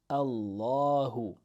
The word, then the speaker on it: Allah: means he say he and then we have Allahu Allahu let's add in The Who so this word on its own Allah is pronounced with a a at the beginning an